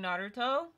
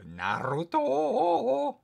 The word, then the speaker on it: Naruto: We're watching Naruto. Oh wow, Naruto! Why'd you have to say it like that? Naruto. That's how you say it, you idiot. No, you say Naruto.